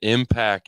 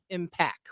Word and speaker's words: Impacc: just for those listening the impact is spelled i i m p a cc yep just so if you go to look them up in case anybody wants services or anything but it's impact with two C's got yeah I